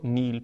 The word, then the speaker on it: nihil: em latim pronuncia assim simplesmente Essa é a pronúncia correta christo nihil praeponere a nada preferir a nada dar mais